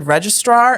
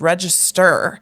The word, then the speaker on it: register: I heard the word registar and I was like oh no you're pronouncing it wrong it's register it's not registar I had no idea